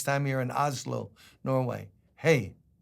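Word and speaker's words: hej: Hey. Pronounce H-A-Y, like hey.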